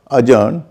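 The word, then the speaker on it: adjourn: देख पा रहे होंगे, जिसमें कि उसका उच्चारण जो है डी का उच्चारण नहीं हो रहा है।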